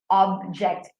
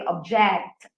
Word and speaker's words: object: stress that I'm using, if it's a noun, I would say object. Object. It's in the first syllable stress. But if it is a verb, then I would say object. It's now in the second syllable.